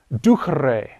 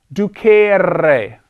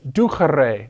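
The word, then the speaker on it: ducere: vowel this is pronounced ducre it's not du carere do not pronounce it that way it's ducherre that e is short in contrast with this e which is long moner so moneo monere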